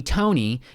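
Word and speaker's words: Toekne: Tony Tony Tony, except the fourth Tony is spelled T O E K N E is a threepoint wizard. Uh, yeah, like toe, like the the body part, like the body part.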